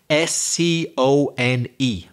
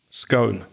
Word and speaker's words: scone: it you say it s c o n e scone ah I say scone yeah both pronunciations are correct aren't they yeah the big debate